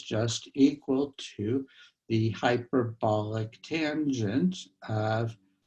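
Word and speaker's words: tanh: n h and um americans say that as tange something like that okay so it's the family of functions like cinch and kosh for the hyperbolic sine the hyperbolic cosine so uh we then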